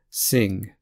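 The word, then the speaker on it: Singh: an Sanchez Spanish Scott sing so notice that the H is silent for this name um Indian name uh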